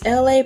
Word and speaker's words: Elay: This is Elay, pronounced like LA, like the city.